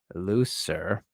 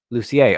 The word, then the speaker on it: Lucier: It's pronounced like a French name. Lucier. Okay. All right. There we go. It's like Cormier. Lucier.